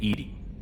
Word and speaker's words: EDI: airlock is a jar why are you named Edy Ed is the phonetic pronunciation of e that is an acronym for